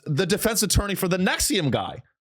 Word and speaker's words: NXIVM: Nexium. Yeah. Oh, Nexium. Yeah. So P. Diddy's defense attorney was the defense attorney for the Nexium guy.